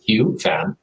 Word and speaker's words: Hieu Pham: The way that my family calls me, the way it's pronounced in Vietnamese is Hieu Pham.